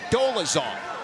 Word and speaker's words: Dolezal: So I went to him, the dad, and he goes, technically, it's Dolezal.